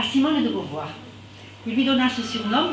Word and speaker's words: Beauvoir: Castor à Simone de Beauvoir. Il lui donna ce surnom parce que, et ça je vais m'adresser à Christine, Beauvoir, soi-disant, en anglais, est similaire par la prononciation du castor.